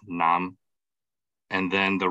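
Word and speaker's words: 南: archaic chinese and also preserved in some southern dialects like cantonese that is actually pronounced nam and then the right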